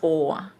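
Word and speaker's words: Åse: แล้วก็จะออกเสียงเป็น "ออ" So my name Å S E is actually pronounced "Orsa". อย่างชื่อฉันที่สะกดว่า Å S E จะออกเสียงว่า "ออซา" Osa.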